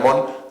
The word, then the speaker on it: Mont: o la Puebla del Mont, que es Mont, acabado en T, con la relajación fonética en la pronunciación, esa T cae y se convierte en la Puebla del Mont.